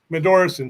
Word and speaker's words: Medorson: It's kind of curious that Mandel, how do you say your stage name? Matt Medorson? Medorson, sorry.